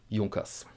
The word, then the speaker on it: Junkers: Yes, and the correct pronunciation is Junkers.